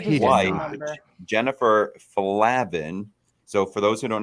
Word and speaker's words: Flavin: Jennifer Flavin. So, for those who don't know how to say it, it's not Flavin, it's Flavin, like flaccid.